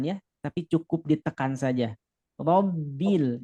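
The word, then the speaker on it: رَبِّ: Robbil, jangan sampai rombil, nah, tapi cukup tekan aja. Robbil alamin.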